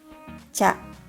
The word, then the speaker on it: ちゃ: The first one is cha, just like cha in chai tea.